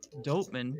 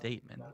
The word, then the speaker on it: Doteman: Nick Doteman, but his pronounced Dateman.